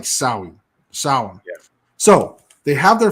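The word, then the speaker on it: Samhain: to eat yeah it doesn't look anything like the way it's spelled right but it's like really it's it's the the way that they say it's pronounced like saui sour yeah so they have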